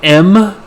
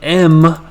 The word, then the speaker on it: em: root root m again this is pronounced like the letter m even though it's spelt e m and then there's someone